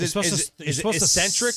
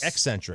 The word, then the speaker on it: eccentric: uh ecstatic or estatic it's funny because Ecentric or eccentric you're supposed to slip in the sea slip it right in